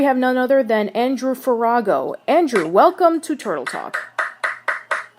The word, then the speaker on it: Farago: Here we have none other than Andrew Farago. Andrew, welcome to Turtle Talk. You nailed the pronunciation, which is that's always it's always a great thing.